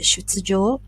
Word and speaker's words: 出場: 1番、38。鈴木選手はアマチュア時代に何度かこの大会に、Okay, this is pronounced as 出場 Okay, it means entry.